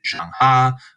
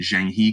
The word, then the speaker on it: Zheng He: Some people will pronounce it Zhang Ha, and so on, but I'll just be pronouncing it Zhang He because it's more phonetic and it's kind of more closely to what you'll read it as.